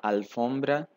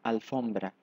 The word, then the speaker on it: alfombra: invés de dizer la alfombra diríamos el alfombra porém nesta palavra a tônica Não é a primeira sílaba mas sim a segunda F se a sílaba